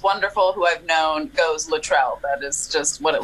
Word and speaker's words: Luttrell: we go please do first how do we pronounce your name and your middle name okay all right i am luttrell so if you are in in like no